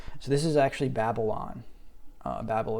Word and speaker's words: Babel: Babel is how you say Babylon in Arabic.